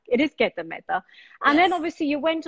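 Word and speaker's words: Gita Mehta: It is Geta Mehta.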